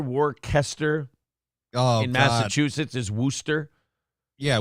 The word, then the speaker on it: Worcester: Wooster and gler and Le and Lester are pronounced Lester Worster and Gloucester yeah the W Worchester warer oh in Massachusetts is Worster yeah Worster Massachusetts I'm from there well you're from there